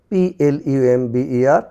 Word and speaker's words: plumber: PLUMBER, plumber, plumber, plumber.